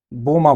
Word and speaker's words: बोमा: या फिर अगर हमें बहुत मुश्किल हो रही है इसको बोलने में, प्रोनाउंस करने में, तो आइए इसको बोमा बोलते हैं, है ना।